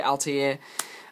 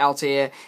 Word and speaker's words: Altair: Satellarknight Altair, or some people will debate the pronunciation, but I like to think it's pronounced the same way as the Assassin's Creed guy, Altair. This guy has a similar